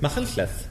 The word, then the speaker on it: Machynlleth: How do you pronounce it? Machynlleth.